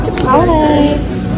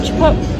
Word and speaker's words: Chipotle: And now Chipotle. Wait, is it Chipotle?